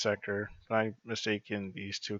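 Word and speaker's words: Secre: I mean, her name is pronounced Seker, but I mistaken these two characters because they look the same.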